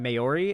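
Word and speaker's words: Māori: And so if I was, like, a guy from that culture, like, a New Zealand, like, indigenous person, Maori is how it's pronounced?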